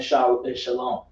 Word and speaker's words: Shalom: Remember that W is silent in Shalom.